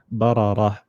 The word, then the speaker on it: بررة: So when you want to continue, it's bararatin, and when you want to stop, instead of this having a ta at the end, it's got a ha. Bararah.